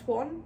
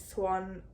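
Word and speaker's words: Siuan: Sounds like Perrin is prepared for, I think her name is pronounced Swan.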